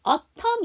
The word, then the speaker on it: autumn: autumn 있죠. 가을이라는. 영국에서 가을이고 그 다음에 문학작품에서 미국에서 가을을 얘기할 때 autumn 쓰는데 autumn이잖아요. 거기서도 n이 묵음이에요.